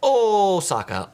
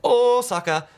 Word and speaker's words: Osaka: when I say it oh Saka oh Saka um the O is a long o and that's how they pronounce in Japan if you're taking the